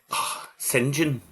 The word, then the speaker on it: St John: Her name is Bridget St John. St John, you're supposed to say.